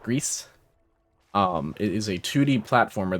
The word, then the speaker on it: Gris: It's called Grease, which I might still be mispronouncing a little bit because I'm not putting like accent on it. Or like Grease.